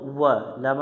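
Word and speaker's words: ولا: ওয়াও জবর ওয়া, লাম আলিফ জবর লা, জবরের বামে খালি আলিফ আছে, এক আলিফ টানতে হবে। এখানে যদি টান না দিই তো অর্থের পরিবর্তন চলে আসবে। আমরা এক লেখা দেখে এক আলিফ টান দেব।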